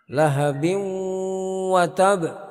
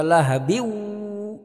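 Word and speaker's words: لهبٍ وتب: Jadi tidak boleh kita baca lahabiu lahabiu. Jangan dibaca lahabiu. Itu kalau baca begitu itu berarti wawu tasdid.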